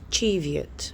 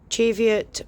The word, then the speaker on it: Cheviot: The Cheviot, sorry, it's not Cheviot, it's Cheviot. I will correct myself. I do say it wrong. Don't pronounce it like me. It is Cheviot.